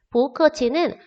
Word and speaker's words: 不客气: 不客气는 원래 뿌 사성이었는데 뒤에 있는 크가 사성이기 때문에 뒤에 사성이 왔을 경우에는 얘가 이성으로 바꿔가지고 표기도 하고 발음도 한다고 했죠.